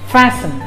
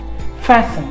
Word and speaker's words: fasten: button instead please use fasten fasten f-a-s-t-e-n the t is pronounced silent it's not pronounced so it's fasten fasten your buttons fasten